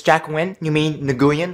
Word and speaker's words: Nguyen: So Jack Nguyen, it's Jack Nguyen, you mean Nguyen, it's pronounced Nguyen, clearly says Nguyen!